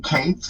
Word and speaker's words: Queso: His name is Queso. Yeah, it's case like the word like case like a suitcase. Yeah. CASEOA. Queso.